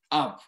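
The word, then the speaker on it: אב: Y la palabra padre se pronuncia Ab.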